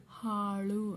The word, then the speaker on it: ಹಾಳು: ಳ ಕೊಂಬು ಳು ಇದೆ ಹಾಳು ಅಂತ ಓದ್ತೀವಿ ಸೋ ನಾವು ಬರೆಯುವಾಗ ಹಾಳು ಅಂತ ಬರಿಬೇಕು ಅಂದ್ರೆ ಹ ಅನ್ನೋ ಅಕ್ಷರನ ಉಚ್ಚಾರಣೆ ಮಾಡುವಾಗ ಗಾಳಿನ ಹೊರಗಡೆ ಬಿಡ್ತೀವಿ ಹಾಗಾಗಿ ಈ ಹ ಅಕ್ಷರನೇ